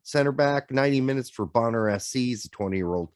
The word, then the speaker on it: Bonner: he goes what's a bonner well this is my hero just reminds me of it this at least is spelled b-o-n-n-e-r so two ends so no boner it's bonner um mulix synogo 45